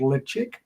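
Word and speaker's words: Ledaig: the year they make the pated version of called le chig leig as it's spelled l chig and um yeah six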